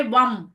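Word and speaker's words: वं: तो इसका उच्चारण आप लोग को कैसे करना रहेगा? वम।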